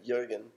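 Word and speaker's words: Jürgen: saying his name right how do you say Jurgen and insurance like you again Jurgen Jurgen he invented LST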